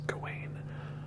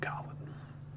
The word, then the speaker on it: Gawain: I'm not sure how you're supposed to pronounce it, because the video advertising the movie says Gawain, but in the movie they all say Gawain, like they're almost saying Garwin, but Gawain.